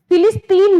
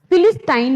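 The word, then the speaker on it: Philistine: आगे देखिए, फिलिस्टाइन, इसका जो प्रोनाउंसिएशन है वो फिलिस्तीन नहीं है, ठीक है। फिलिस्तीन नहीं है, ये फिलिस्टाइन है।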